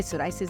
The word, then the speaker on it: psoriasis: अब ये पी तो इसके ऊपर साइलेंट है, साइलेंट मगर वो सोरियासिस असल इसकी प्रोनाउंसिएशन है क्या? है, सोराइसिस ही है।